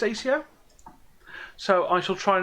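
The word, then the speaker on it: Asio: And I have checked, apparently it is pronounced ACO.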